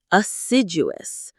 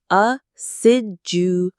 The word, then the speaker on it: assiduous: Aciduous. Acidus. Aciduous. The stress is on the second syllable. Sid. Aciduous.